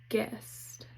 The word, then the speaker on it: guest: GU, the U is silent. Still says G, like in guest.